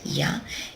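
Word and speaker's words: 屋: next we come to this kanji here it's pronounced y there it is ya and when it's put after a product it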